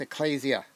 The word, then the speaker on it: Ecclesia: Greek word Ecclesia okay sometimes we say Ecclesia but it's actually an ADA for those of you who know Greek it's an ADA so it has a long a sound there so it's Ecclesia um and it is